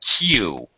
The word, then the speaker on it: queue: my train yeah and this is a tricky word it looks really weird I don't know where this word comes from quite honestly so strange if yeah it's q it's pronounced just like the letter Q you it's such a